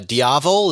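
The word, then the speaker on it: Diavel: V4 SP2 multi V4 rally panagal v4r uh diavo is that how you pronounce it V4 yes monster SP Scrambler night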